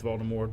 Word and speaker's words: Voldemort: cleared that up its Baltimore you don't pronounce the T okay so uh as